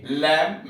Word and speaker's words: lamb: कॉम कंघा, COMB कॉम कंघा, LAMB लैम्प मेमना, THUMB थम अंगूठा। सी साइलेंट है, SCENT सेंट इत्र, SCIENC साइंस विज्ञान, सीन SCENE सीन दृश्य।